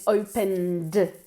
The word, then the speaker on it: opened: Are you sure that you opened? Open tiene una sílaba y en el pasado sigue teniendo una sílaba.